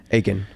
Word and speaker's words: Aitken: then how do you say your last name aiken aiken yes how you doing bro doing great